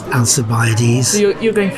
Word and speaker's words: Alcibiades: ideas or alkyd by ADIZ I say of Alcibiades soft see I'm gave this off see the anglicized pronunciation simply because that's how I've always heard